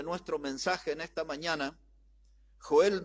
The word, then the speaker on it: Joel: a sobre Joel y en realidad se pronuncia Joel eh Así se pronuncia Joel y vamos a leer